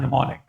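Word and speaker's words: mnemonic: Reach reach purgative and निमोनिक। निमोनिक जानते हैं एम यहां पर साइलेंट होता है।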